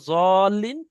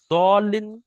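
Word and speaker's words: الضالين: ওখানে এই জোয়াত আছে, ওয়ালা দল্লিন বললে ভুল হবে, সুতরাং দোয়াত পড়া যাবে না, এটা পড়তে হবে জত। পুরোপুরি সদ উচ্চারণ হবে না, আর পুরোপুরি দোয়াত উচ্চারণ হবে না, দুটোর মাঝখানে দত, ওয়ালা জল্লিন।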